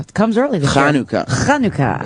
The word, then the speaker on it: Hanukkah: And do it fast, because next week is Hanukkah. It comes early this year. Hanukkah is how it's pronounced.